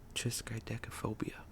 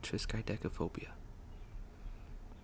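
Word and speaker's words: triskaidekaphobia: Fear of the number 13 is called Triscadeophobia. I know I pronounced that right because I heard it in a movie once and that's how they said it. Fear of the number 13 is called Trisideophobia.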